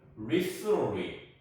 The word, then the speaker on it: recently: 이 미국 사람들이 이 T자 발음을 잘 안 하려고 해요. 그래서 얘가 recently가 아니고 요 티귿이 요 받침처럼 listen 해갖고 조금 이렇게 눌러주는 느낌이 듭니다. 그래서 recently 이렇게 되는 거예요.